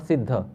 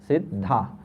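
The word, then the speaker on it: Siddhā: Bhakti is also lady, so it is not Siddha, it is Siddha. The name of a lady never ends with a short a in Sanskrit. The name of a lady always ends with a long a.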